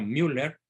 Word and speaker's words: Müller: otro cardenal el cardenal Müller un extraordinario y muy admirado por su servidor cardenal alemán cardenal Gerard Müller se escribe mwl e r con diéresis en la u por eso se pronuncia Müller dice que Benedicto 16